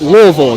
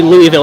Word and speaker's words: Louisville: you say it uh if you're from here it's louisville just two syllables but it's actually louisville after king living locals call it louisville it's actually called i'm